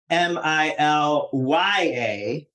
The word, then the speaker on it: Milia: Milia, even though it's pronounced Milya.